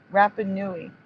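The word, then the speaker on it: Rapa Nui: who what rap rap rapanui I think that's how you pronounce it that's the people of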